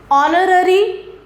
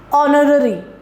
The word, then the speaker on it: honorary: That means the sound of H is silent. For example, honesty, honorary, ire.